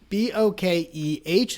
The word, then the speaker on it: bokeh: it's spelled interestingly because it ultimately comes from japanese bokeh and that is a